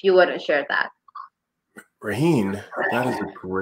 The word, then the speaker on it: Raheen: Am I pronouncing it correctly? Raheen Yes, you did.